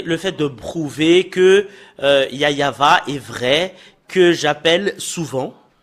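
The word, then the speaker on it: יהוה: fait de prouver que yayava est vrai que j'appelle souvent et le fait de prouver que jéhovvah est faux et ahova et faux et Yahou également et faut que tout le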